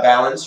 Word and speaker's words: balun: We're going to look at all of our balance here, starting with analog and then going into digital. What is a balun? Well, it stands for balanced, unbalanced. You may hear it be pronounced as balance.